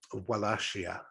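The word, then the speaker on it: Wallachia: foreign Invaders the last year last year um wellassia that probably sounds a lot better actually because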